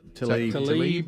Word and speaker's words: Tlaib: Tlaib.